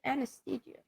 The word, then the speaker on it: anesthesia: they uh they they put you under that Anthology anesthesia said it right anthia yeah yeah a little